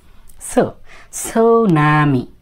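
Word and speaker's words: tsunami: থেকে এসে এভাবে হয়ে গেল সো এটা হলো সুনামি সুনামি এই দেখেন এই সুনামি টি এস ইউ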